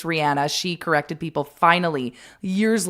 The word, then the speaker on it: Rihanna: We used to all call her Rihanna. It's Rihanna.